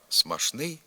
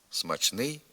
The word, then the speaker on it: смачний: пшеничний наприклад пшеничний хліб зі сполученням шн вимовляються і слова смашний і смашно наприклад смашний борщ хоч у цих словах допускається й паралельний варіант вимови із сполученням чн смачний смачно наприклад у побажанні смачного смачного